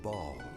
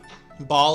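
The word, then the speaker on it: Baal: closed the electro archon ball ball is how they're pronouncing it okay preferred to call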